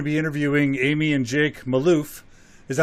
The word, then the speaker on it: Malouf: Today we're going to be interviewing Amy and Jake Malouf. Is that how you guys pronounce it?